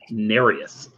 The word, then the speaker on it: Nereus: 2 points fun fact uh dolph lundgren place nary us in that movie narrative pronounced Nereus alright 19 to 21 hanging either of your